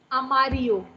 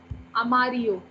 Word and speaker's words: amarillo: The double L has the y sound or the j sound. आपको जो भी बोलना है आप वो use कर सकते हो. I like to say it y because I think that's easier for us to pronounce.